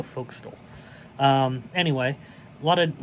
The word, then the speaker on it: forecastle: we will be doing the folk stole or Forecastle depending on how you pronounce it but I go foxtel um anyway a lot